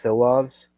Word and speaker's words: Silovs: You're gonna have to help me with the pronunciations. It's Silovs.